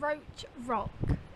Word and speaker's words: Roche: so i've been so this is called roach rock and so it's spelled r o c h e and it's in bottom